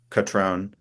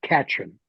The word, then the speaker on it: Catron: to convince people like Catrone to be involved in a constitution that then criminalized some of the actions that he was probably involved in. Just so you know, Darren, we pronounce it Katrin.